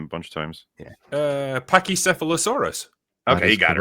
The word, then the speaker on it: Pachycephalosaurus: Pachycephalosaurus. Okay, you got it right. Fuck you. It's often the one that people pronounce incorrectly, though.